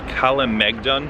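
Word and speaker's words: Kalemegdan: I think the fortress is called Kalamegdan. At least that's the way it looks like it's pronounced.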